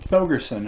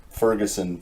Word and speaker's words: Thogersen: Pronunciation of your last name is Thogersen, right? Thogersen, actually. Thogersen. Yeah, it's crazy. It's a name nobody ever pronounces correctly. Thogersen. Yeah. Thogersen. Danish. I've heard it Ferguson for whatever amount of time, but it's easier to say.